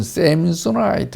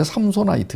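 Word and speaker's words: Samsonite: 가방 그런 뜻이에요 예 우리는 쎔 소 나이트 이래가지고 뭐 약간 좀 어 발음을 좀 이상하게 하는데 원래 3소 나이트 에요 삼손이 보물찾기 실패한 대표적인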